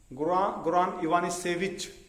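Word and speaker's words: Ivanišević: Goran Ivanisevic. It is C only, but it is pronounced as ch.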